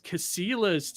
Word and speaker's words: Casillas: Without further ado, let's welcome Deece Casillas to the show.